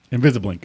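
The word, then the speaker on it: Invisible, Inc.: of the game it invisible inc invisible i n c invisiblink i want to take it not spelled like regular like i and k inc it's really cool i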